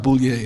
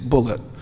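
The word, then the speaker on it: Bulliet: He spells his name B U L L I E T and he pronounced it Bullet. He corrected me. He said, "No, my name's not Bouier, it's Bullet."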